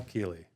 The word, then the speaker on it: Kealy: And with us, special guest today, Kealy. Did I say it right? You did. We were wondering how to pronounce your last name before you got here.